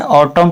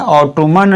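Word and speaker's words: autumn: ऑटम पढ़ना है, ऑटोमन नहीं पढ़ना, एन साइलेंट रहता है इसमें, तो या लगभग उम्मीद है कि ये भी याद हो गया होगा।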